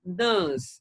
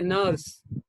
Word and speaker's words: nurse: at the end but in british we have to say nas nurse but in indian english you can say nurse or word okay like